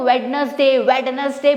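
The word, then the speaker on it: Wednesday: तो D silent हो जाएगा, ध्यान रखेगा।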